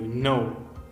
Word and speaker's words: know: Sometimes it is maybe the K is silent, like no. K-N-O-W, no.